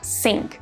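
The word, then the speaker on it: cinq: East next we've got c-i-n-q which is pronounced sync and it means five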